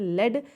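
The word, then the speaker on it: lead: एक जैसा ही ना इसे हम पढ़ते हैं लेड जो कि एक मेटल है ले इज a metal and लीड दोनों का प्रोनंसिएशन अलग-अलग होगा यहां पे ठीक है स्पेलिंग सेम होती है प्रोनंसिएशन अलग तरीके से करते हैं और इनका मीनिंग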